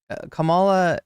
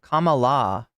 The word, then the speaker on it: Kamala: oh my God your Kamala is pronounced Kam Kamala Kamala like Kama not Kam or Kamal wait it's Kamala K